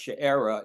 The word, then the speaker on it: Sheerah: The English translation chir is pronounced sherra in Hebrew and I'm going to try to do that.